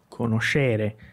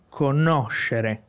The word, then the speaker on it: conoscere: Geralmente as pessoas dizem conoscere, porque conhecer, a sílaba tônica, né? Então, no italiano é conoscere.